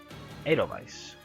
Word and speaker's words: Edelweiss: Edelweiss.